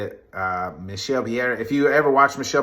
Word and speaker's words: Michel Pereira: Another big win for Michel Pereira. That's how you say it. Michel Pereira.